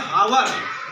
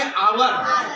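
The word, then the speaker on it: hour: इसको ब पढ़ते है हावर लेकिन यहां एच क्या है साइलेंट है तो इसको क्या पढ़ेंगे आवर तो पहला अर आपका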